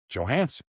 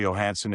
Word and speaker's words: Johansson: And when he first came here, I said, "How do you want your name pronounced?" And he said, "Johansson." I said, "Good enough for me." So some broadcast say Johansson if they don't ask us. And some are the Yo.